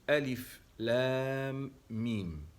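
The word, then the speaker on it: Alif Lam Mim: Il commence comme celui-ci par trois lettres entrecoupées que sont le A, le L et le M, que l'on prononce Alif, Lam, Mim.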